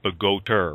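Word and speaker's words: Bogota: I'm a police officer in Pagoda, New Jersey. I've been on force in Pagoda for a little over 11 years. Okay. And Pagoda is spelled B-O-G-O-T-A, right? Even though your accent says Pagoter, right?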